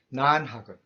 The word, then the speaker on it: 난학: 화란학 라는 두음법칙으로 난으로 발음했어요. 그래서 이 한자를 우리가 읽으면 난학입니다. 일본인들의 네덜란드 서적과 학문을 연구하는 학문 난학은 당시 네덜란드 상인이 전해준 각종 서적을 번역하는 데서 시작합니다.